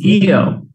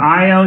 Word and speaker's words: Io: it's a picture no it's EO EO or IO depends on how you like to pronounce it the westerners have no agreement some of us say EO some of us say IO so say whatever you want um IO or